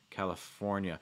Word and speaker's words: California: saying it california california notice also that that stress is really on the fore so the other syllables don't have to be super super clear you know you don't need to say like california you don't need to do it you just say california california you know i don't